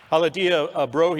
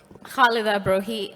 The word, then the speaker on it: Khalida Brohi: Haladia Brohi is the founder of the Sukhur Foundation in Pakistan. Say it correctly for me. Khalida Brohi, Yeah.